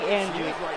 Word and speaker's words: Andre: how is he going Andrew Andre Gunner sorry I said Andrew but it's Andre I might want to